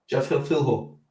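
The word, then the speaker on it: Jafel Filho: Jaffel Philho.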